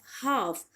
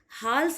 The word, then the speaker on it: half: हमारा पहला वर्ड है हाफ, HALF, हाफ। आप इसे हाल्फ प्रोनाउंस नहीं करोगे, बट you have to pronounce it हाफ, हाफ, जिसे आप हिंदी में बोलते हो आधा।